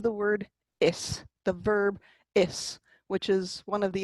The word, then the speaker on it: is: And the exception is the word is, the verb is, which is one of the 11 irregular verbs in Irish. There's only 11, which is great. And is not pronounced ish.